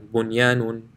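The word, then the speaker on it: بُنْيَانٌ: However, here, after nun sakin, the ya is in the same word, so there will be no ghunna. Bunyanun, sinwanun, qinwanun, ad-dunya. So in these 4 places, in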